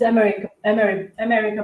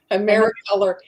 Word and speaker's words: Americolor: This is America brand. Emery brand. Am I saying it right? Americolor.